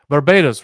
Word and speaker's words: Barbados: Barbados, right?